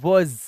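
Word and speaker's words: was: अच्छा डब्लू ए एस इसे वास नहीं पढ़ना है सा नहीं वास नहीं जज जज क्या पढ़ना है वज ज इसका मतलब होता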